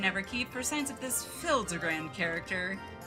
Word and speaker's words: Hildibrand: necessarily expect it, but I mean it is Hildebrand, so expect the unexpected. Since parting ways, I've searched every alley in Diear in Evere for signs of this Hildebrand character. It's pronounced Hildbrand.